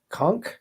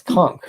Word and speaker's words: conch: gonna get some we always say it wrong conch it's clunk right it it comes can't sure something's wrong